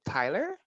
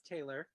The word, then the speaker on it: Taylor: room and they're like oh tyler wouldn't you be like taylor no no it's it's taylor right or hell no don't